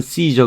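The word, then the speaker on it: Caesar: 아니고 아 웰스 있어 카이사 라고도 하고 영어 발음은 씨저 그렇죠 카이 자가 또는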